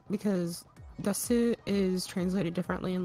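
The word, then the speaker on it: です: Japanese, the writing is different, like because desu is translated differently in like death Osaka. desu for people who don't know. So desu is normally pronounced des, but in like the south of Japan they say yan instead of des.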